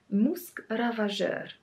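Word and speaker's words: Musc Ravageur: have from frederick ma we have musk ravager musk ravager yes that's that's how you say it is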